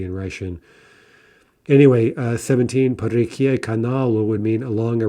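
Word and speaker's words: реки: So let's look at reka, right, two-syllable feminine. In the plural, the stress jumps back. We get reki, and we keep that stress throughout the plural.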